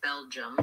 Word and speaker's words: Belgium: there's two vow but the first syllable of Belgium is just like the English word Bell like in ring a bell um and then our second syllable jum it looks like it could be two syllables here but it's really just one Bel jum jum letter G says